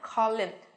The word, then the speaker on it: column: có từ column nhá, column, phần âm của nó đây cũng không có âm n nào hết. Và trong trường hợp này của chúng ta thì âm n kia chuyển thành âm gì các em? Âm câm, đúng không?